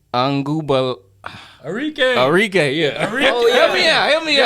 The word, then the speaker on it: Arike: They also have, I wish I knew how to pronounce this girl name. Arik Anguba. Arike, yeah.